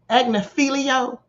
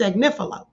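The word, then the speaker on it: Agnifilo: And for those of you who are still pronouncing this man's name, Agnilio, please put some respect on his name and say it correctly. It's Agnifo.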